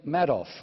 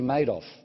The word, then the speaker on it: Madoff: problems instead we have the characters like Bernie Madoff now that's how I thought you pronounced his name until Americans heard me talking about it and said no in this pregnancy's name it's actually made of anything only in America can you get lines